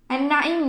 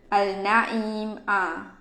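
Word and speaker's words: النعيم: Okey, an-na'im ni dia ada silent letter dia, iaitu huruf lam. Huruf lam dekat perkataan an-na'im tu kita silentkan dia. Okay, kita tak baca dengan al-na'im. Okey.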